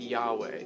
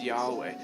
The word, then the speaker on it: Yahweh: what we transliterate yhwh over time we've added an a and an e to get yahweh to make it pronounceable but jewish scholars have